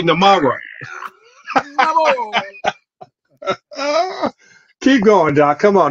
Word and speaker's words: Namor: Not Namor. Namor. You got to make the R roll.